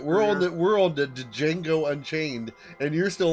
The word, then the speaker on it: Django: with that guy from django unchained django is there another one excuse me but the d is silent really it sinks i